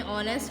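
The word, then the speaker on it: honest: ऑनेस्ट, अगर ऑनेस्ट देखा जाए तो क्या है, ओ से लग रहा है कि लिखा गया है लेकिन यहाँ पे एच क्या होता है, साइलेंट होता है।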